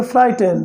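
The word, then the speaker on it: frightened: Okay guys, C वॉज फ्राइटेंड, फ्राइटेंड, यहाँ पर GH silent है, तो हम पढ़ेंगे फ्राइटेंड।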